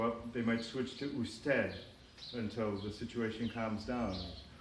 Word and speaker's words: usted: Usted is the formal you, it's the word for you. It's pronounced usted. In many countries you don't even hear the D, it's just usted.